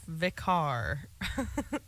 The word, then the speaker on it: Vikare: It is pronounced Vikare.